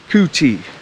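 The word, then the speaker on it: Kutty: My name is Kuti, K-U-T-T-Y, Kuti. And the T and the Y is silent.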